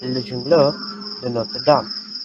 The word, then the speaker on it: Le Jongleur de Notre Dame: Its original title was Our Lady's Juggler, Le Jongleur de Notre Dame, pronounced as Le Jongleur de Notre Dame.